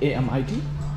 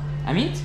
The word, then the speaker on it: Amit: Amit, A-M-I-T. Amit?